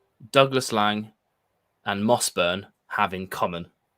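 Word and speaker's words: Douglas Laing: mossburn having common I get a lot of stick for saying Douglas Lang by the way because I I know up there you'd say Douglas Lange but um it's fine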